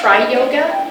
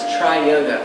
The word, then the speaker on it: Tri-Yoga: And the style of yoga that I teach is tri-yoga, which is spelled T-R-I-Y-O-G-A. So it's not like tri-yoga. It's tri as in three or trinity.